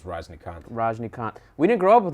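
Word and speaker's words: Rajinikanth: Raj contour what had we pronounce his name howdy prawns his name I think it's Verizon account Rajnikant we didn't grow up with him so we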